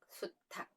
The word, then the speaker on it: 수탉: 쏘리 를 담아 놓으셨어요 그래서 이것들이 혼자 있을 때는 암수가 되지만 다른 말이랑 결합해서 사용될 때에는 발음이 거세지는 현상이 있습니다 대표적인 게 한 마리만 쓸땐 우리가 닭 이라고 부르지만 여자 남자의 개념으로 암수가 연결될 때는 어떻게 보나요 암탉 수탉 이제 이해가 되셨죠 그래서